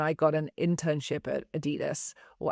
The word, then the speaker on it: Adidas: You were working in marketing at Adidas in the 90s, and there was this huge